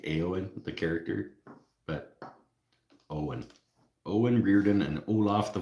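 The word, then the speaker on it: Eoin: I think I wanted to pronounce it Ian, but then somebody said it was actually like Owen or something. Don't lock yourself into a Band-Aid box. Hey, I will go exclusive. I would have an exclusive Band-Aid partnership with Veritas. Yeah, Eowyn. Ewan. Reardon. That's him. A-O-N. Pronounced Owen. Reardon.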